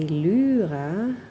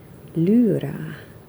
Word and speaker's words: Lyra: Now it's a German brand, so I think the pronunciation should be quite different. I think, as far as I know, a German would say Lyra Rembrandt polycolor. That Y, you know, the second letter of Lyra.